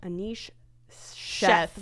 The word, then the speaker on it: Anish Sheth: Anish Sheth.